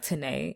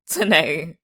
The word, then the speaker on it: Tanae: And I was like, "Tanae." And she was like, "Oh, okay, something easier." And I'm like, bitch, it's 2 syllables. Tanae.